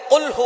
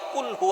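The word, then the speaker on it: قُلْ هُوَ: আল্লাহ পাক রাব্বুল আলামন এখানে বলছেন কুলহু আল্লাহু আহাদ। এখানে কফ দিয়ে পড়ছেন কিন্তু অনেকেই ভুল করে উচ্চারণ সঠিক না হওয়ার কারণে তারা পরে কাফ। কুলহু আল্লাহ।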